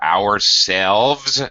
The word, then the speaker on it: ourselves: Notice the V. Please be careful to pronounce the V. Ourselves, yourselves, if you're talking to a group of people, or at least more than one person. And themselves. All the plurals have the V.